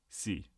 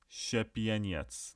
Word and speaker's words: Szepieniec: Yeah, so just for a spelling contest here, it's Szepieniec, which Correct. is Very well done. Szepieniec. That's how you pronounce it. It's like Czepieniec.